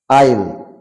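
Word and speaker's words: aisle: letter will be silent S letter will be silent for example island for example island মানে দ্বীপ দ্বীপ আইল মানে দুই শাড়ির মাঝখানের অংশ দুই সারির মাঝখানের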